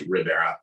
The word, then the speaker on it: Ribera: in case you're wondering the pronunciation for my last name is Ribera it's just like Rivera um and uh yeah